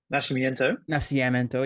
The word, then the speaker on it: Nascimento: Sure, he's a wrestler, and Nascimento. Did I say his name correctly? Nascimento, yeah.